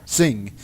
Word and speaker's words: Singh: named amar sin singh uh how does that pronounce sinjar singh singh oh yeah like noon and sing the amar